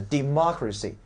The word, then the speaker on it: democracy: 意重音位置啊，叫 democracy demonstration 啊， democracy，你看民主